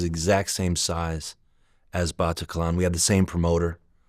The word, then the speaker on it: Bataclan: And how do you pronounce it? The Batatian Theater Massacre happened? Dan was performing there with his band, the Arcs. Yeah, at the Bataclan.